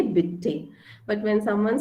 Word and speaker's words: bitte: want to say pardon then also i say bitty okay like i've not heard what you've said